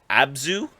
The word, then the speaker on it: Abzu: So there's a game called Abzu, I believe is how you pronounce it.